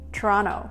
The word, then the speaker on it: Toronto: Toronto Some of you might think I'm pronouncing this funny without the "t" sound towards of the word But I've noticed that